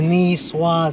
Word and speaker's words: Niçoise: It's a Niçoise salad. Niçoise. What the fuck is it? So uncultured. It doesn't sound the same. It says Nikoi. Jose, the C is silent.